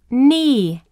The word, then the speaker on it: knee: Knee.